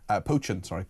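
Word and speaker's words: Pochin: Potchin is how you pronounce it. Potchin, like a poached egg, I've been told.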